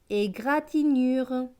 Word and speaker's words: égratignure: Égratignure.